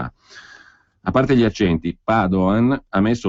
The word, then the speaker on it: Padoan: il ministro dell'economia Piercarlo Padoan con l'accento sulla prima rigorosamente perché non è Veneto